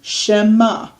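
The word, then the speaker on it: שמע: Okay, shema, and because the ayin is silent, doesn't say a word.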